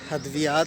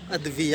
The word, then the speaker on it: ادویہ: بھی جو ہے نا یہ ادویات نہیں ہوتا، یہ ادویہ ہوتا ہے۔ ادویہ یہ غلط العام کر دیا ہوا ہے، جبکہ صحیح اس کا جو ہے تلفظ اور صحیح جو اس کی ادائیگی ہے وہ ادویہ ہے۔ اس لیے آپ آئندہ سے کوشش کریں کہ ادویات نہیں کہنا، ادویہ کہنا ہے، اور اس لفظ کو